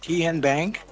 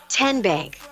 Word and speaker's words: TN Bank: How do you say the name? TN Bank? Nope. Tin Bank? Uh-uh. So what is it? 10 Bank. 10, as in Tennessee.